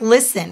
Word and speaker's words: listen: They would have to know a word like listen, where the T is silent.